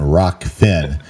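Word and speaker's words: Rokfin: the younger a hard time because I I pronounce it r-o-f-k-i-n and it's r-o-k-f-i-n rock Finn and I sometimes mess it up because you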